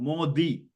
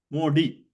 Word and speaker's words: Modi: newspaper or Hindi channel, it is always the sound, Modi, not Modi. But even people from India, because I think they're reading from MODI in English, they pronounce as if it is a D itself.